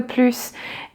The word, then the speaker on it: plus: And if it's negative, the final S is silent. If it is positive, the final S is pronounced.